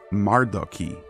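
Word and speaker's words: מרדכי: of Xerxes, along with Mordecai, who in Hebrew is Mardoki, and Mardochaeus in Greek.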